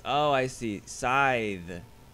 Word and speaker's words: Scyth: it's oh I see scythe the C is silent so there's no cuss ound it's like scythes it's not scythes it's